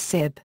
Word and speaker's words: sibh: in bh, such as sib, lib and duib, something not found in the rest of Connacht. These words would be pronounced respectively as shiv, live, and doffer in the other areas.